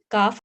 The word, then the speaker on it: calf: So this is all calf, calves, calves, calves, half, halves. Please focus on the pronunciation. Don't pronounce L in these words.